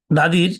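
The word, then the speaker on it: the: আজকে আমি আলোচনা করব কখন দা এবং দি উচ্চারণ হবে তার দাদির সিবি ভাওয়েল ভাওয়েলের আগে টি এইচ ই থাকলে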